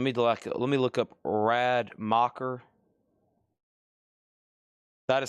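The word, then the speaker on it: Rademacher: Okay, let me let me look up Rad Mocker. That is spelled R A D E M A C H E R.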